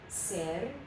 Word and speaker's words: serpiente: So this is a three-syllable word because we have serpiente. Okay, it's three syllables.